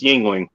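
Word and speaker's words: Yuengling: ling is spell is it looks like youngling is pronounced yingling um and also the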